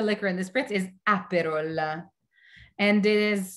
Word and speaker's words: Aperol: name of the liquor in the spritz is aperola and it is spelt a-p-e-r-o-l aperol what is the significance of